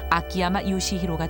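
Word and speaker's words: 秋山成勲: 사용하고 있는 이름이기도 하다 한자 추성훈의 일본식으로 매 산자를 더한 추산 성운 이것을 일본식 발음으로 읽으면 아키야마 요시히로가 된다 기 수 부 깝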